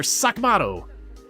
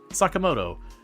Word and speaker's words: Sakamoto: Before you stands the Sak uh Inspector Sakamato. That's not at all how you pronounce it. Sakamoto.